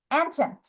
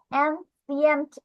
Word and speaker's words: ancient: এটার প্রোনাউন্সিয়েশন একটু তাড়াতাড়ি করবে। অ্যানচেন্ট, অ্যানচেন্ট, ঠিক আছে? অ্যানসিয়েন্ট এভাবে উচ্চারণ না করে অ্যানচেন্ট।